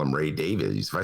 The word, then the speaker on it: Davies: him credit uh that i was mispronouncing ray davies name ray davies uh the leader of the kinks and that his real pronunciation is davis and all these years have been calling him babies and so i've been